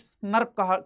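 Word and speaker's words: snRNP: RN plus सम protein S एन आर एनपी बोला जाता है प्रोनाउंसड स्नर क कराया जाता है बच्चे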